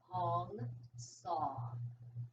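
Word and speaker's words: Hong Sau: And the mantra I use is Hong Saw. Hong rhymes with song, and Saw rhymes with draw.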